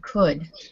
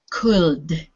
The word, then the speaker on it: could: i i couldn't now in that word could the l is silent so we don't say could it's too difficult so